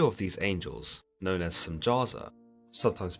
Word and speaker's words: Semjaza: The leader of these angels, known as Semjaza, sometimes pronounced Semyaza, tells the Watchers that they should reconsider their